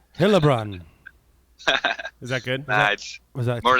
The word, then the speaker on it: Heilbrunn: let's see how you say it all right helbron is that more like halun ha hun Haun